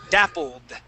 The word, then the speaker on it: dappled: okay this will be dappled did okay no you're you're pronouncing that did at the end okay so we want to say dappled that's it dappled dappled